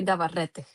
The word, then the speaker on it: Navarrete: it should be Navarrete. Navarrete.